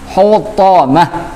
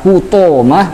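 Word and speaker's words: حطمة: Hutamah, bukan hutomah atau hutamah, bukan.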